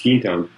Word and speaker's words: Quinton: the early 1900s uh and that's Quinton q-u-i-n-t-o-n to pronounce quintone he he actually would